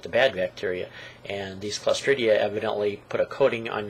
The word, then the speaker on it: Clostridia: there's a bacteria called, I'll see if I can pronounce this right, Clostridia, I believe it's pronounced.